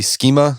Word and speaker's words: schema: So another idea of physical intelligence is the idea of body schema.